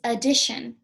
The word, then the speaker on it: addition: There is a phonogram that says sh. Should have pulled it. Try to find it really quick. Oh, shh. Well, I'll pull it next time. I'll tell you what it is. It's not this one. It's not shh. This is the teacher's favorite phonogram. It's not that one. It's T-I. T-I says shh.